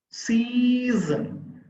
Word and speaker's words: season: soon is another sound season c sun there are two syllables the first syllable is stress because we take additional force to utter the sound season reason english there are